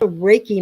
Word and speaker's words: reiki: and the purpose of it sure well um raiki it's it has Japanese Origins and basically raiki